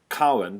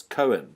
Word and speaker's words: Cowan: My surname's Cowan, but most people go CO as Cohen.